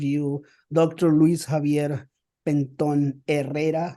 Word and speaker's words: Herrera: Luis Javier Penton Herrera, not Herrera, but Herrera, I guess it should be Herrera.